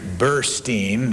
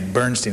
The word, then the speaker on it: Burstein: Also, it's Andrew Burstein, not Andrew Bernstein.